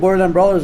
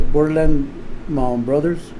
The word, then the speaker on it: Borderland Brawlers: Yeah, because I said Borderland Brawlers and nobody knows how to say it. Everybody says Borderland Brothers.